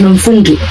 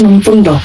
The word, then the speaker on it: Mundo: Like they would say my name is Mundu. And I used to be like it's Mundo.